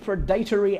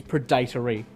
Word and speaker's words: predatory: Number 4, pictured as which predatory animal? That is how you pronounce that word, by the way. Before you mention anything, it is predatory, not predatory.